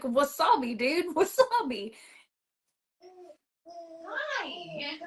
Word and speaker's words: wasabi: And I was like, wasabi, yeah. Sabi? Oh, sawabi.